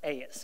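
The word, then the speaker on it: εἰς: It's pronounced "eis," and it's spelled E-I-S.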